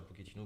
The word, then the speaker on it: Pochettino: C'est comme ça, je le prononce bien. Oui, Pochettino, oui, c'est oui.